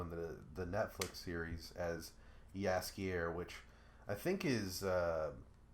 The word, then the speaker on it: Jaskier: But the original version is Jaskier, which is how they pronounce it, or how they say it in the Netflix show.